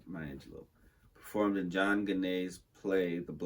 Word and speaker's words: Angelou: In 1961, Angelo performed in I have to keep saying Maya Angelou in my head to say it right. Maya Angelou performed in John Ganet's